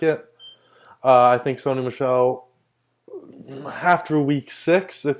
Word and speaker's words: Michel: the Patriots running back Sony Michael show Michelle sorry I thought was Michael I'm pronouncing it as I read it my bad but